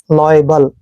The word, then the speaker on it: liable: दोस्तों LIA का उच्चारण हम लॉय करते हैं, ऐसे लॉय, और BLE को बल पढ़ना है, लॉयबल।